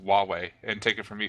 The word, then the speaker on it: Huawei: 29th two new Google Nexus phones one from Hawaii from China and one from LG the next five I hate I hate to interrupt you there CJ but it's pronounced Huawei and take it from me who's actually worked